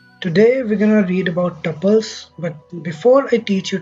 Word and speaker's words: tuple: and it's pronounced as tuples not tuples not anything else tuples like how you pronounce couple but with the t okay so to define